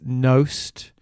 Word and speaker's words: Knost: Thanks for tuning in, hope you enjoy this episode with Knost. My guest, that is how you pronounce it, by the way, I checked with him.